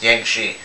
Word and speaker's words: Yangtze: It's Yangtze. See, I don't pay you for your pronunciation either.